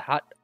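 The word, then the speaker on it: ホ: symbol there you go this is ho or ho when it says ho like in the word hotel show count 4.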